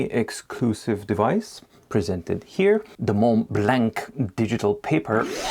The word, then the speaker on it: Montblanc: The M blank digital paper. It is not Mlanc. It is Mlong. You peasant.